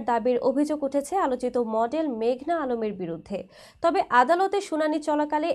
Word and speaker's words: মেঘনা আলম: এই সময় উচ্চ আদালতে নিজের নাম ভুল উচ্চারণ করায় প্রতিবাদ জানিয়ে মেঘনা বলেন, আমার নাম মেঘনা আলম। মেঘলা নয়।